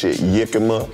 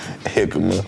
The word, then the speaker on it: jicama: this pronounced a lot of ways this some people call this yakima and some people call it jicama oh people california love